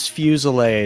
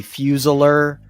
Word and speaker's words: Fusil: Like my last my last name is Fusil and most people call me Fuseler.